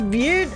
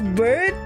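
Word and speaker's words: Byrde: do you actually pronounce beard as bird call your beard so that's why oh you're supposed to pronounce her name as bird not beard I thought I thought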